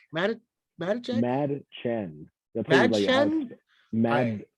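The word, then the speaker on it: Mädchen: Madachek? Madachek? Mad Chen. Mad Chen? Mad. It's like mad. There's a K in it.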